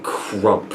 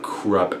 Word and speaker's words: Krupp: I've been calling him Crump throughout the entire series until like someone told me it's pronounced Krupp and it like blew my mind.